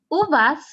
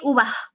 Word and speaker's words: uvas: one means grapes okay uvas you do not say ube no you say why because again the s is after a vowel in this case the a but when you have